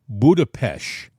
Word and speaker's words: Budapest: a sudden you'll hear people in the media pronounce it Budapest like ish.